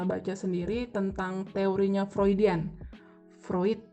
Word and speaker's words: Freud: sendiri tentang teorinya floridean vroid bacanya tulisannya Freud Mungkin beberapa waktu teman-teman